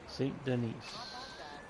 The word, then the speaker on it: Saint Denis: Saint Denis. Okay, so I have been pronouncing it wrong.